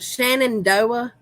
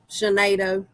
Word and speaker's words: Shenandoah: at us being silly that's pronounced shenandoah you know what i thought that was shinato you don't like